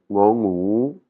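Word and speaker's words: ง งู: Alors "ngo ngu", c'est un "ngu", hein, c'est le son "ngu" comme par exemple dans le mot gagner, gagner le gn hein, c'est le même son, c'est ce son gn.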